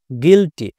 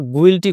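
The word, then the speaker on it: guilty: কি করেছি ই করেছি গিল্টি এখানে কিন্তু আমরা গুইটি করি নাই কেন করি নাই এই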